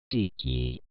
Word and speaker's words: DiC: My name is pronounced Deek.